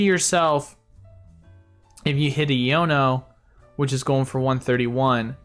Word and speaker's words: Iono: same you're like ioni it's a Yono now okay I said Yoni at first and I was pronouncing wrong but um but yeah